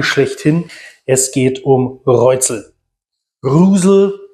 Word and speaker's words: Reuzel: Rusel, wie es im Original ausgesprochen wird, meine ich. Aber ganz, wir haben gefühlt schon alle möglichen Aussprachearten gehört. Insofern, wir sagen meistens einfach Reuzel, weil es am einfachsten ist.